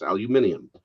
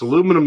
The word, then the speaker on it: aluminium: jason this is a this is a british car it's aluminium it's aluminum if it's an american car it's aluminium if it's british do they make cars